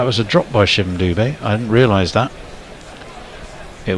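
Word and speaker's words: Dube: Says the Indian lads on my cricket team say that Dubé is pronounced like booby with a D. Booby, so Doobie. No, he's not. Sorry. Just think Frank Sinatra, as in Booby Doobie Doo.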